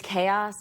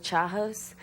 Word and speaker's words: chaos: I always, every time someone says chaos, I think Chahos, because that was, and I really thought, Chahos. I really thought it was Chahos until I was like